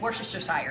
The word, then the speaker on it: Worcestershire: I'm like, Worcestershire.